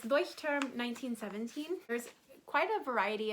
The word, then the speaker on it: Leuchtturm: since i speak german i just say it as you would in german so i'm so sorry that doesn't make sense but it's it's voice term 1917.